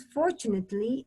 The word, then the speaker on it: fortunately: fortunate I become as fortunately and you do not pronounce the e you do not say